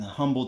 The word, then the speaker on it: Humble: event out here in Humble Texas yes I say humble it has an H in front of it okay I pronounce the H she put out as